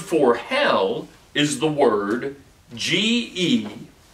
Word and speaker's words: Gehenna: The Greek word for hell is the word G-E-H-E-N-N-A, Gehenna. Gehenna. Spell that again.